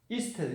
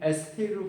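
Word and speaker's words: estate: 이스테이트, 이거는 에스테이트로 발음하지 말고 이스테이트. 이스테이트로 발음하세요.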